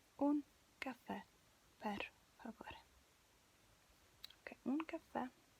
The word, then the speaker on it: caffè: Okay, it has an accent, so your voice has to concentrate on that. You have to really stress this last letter.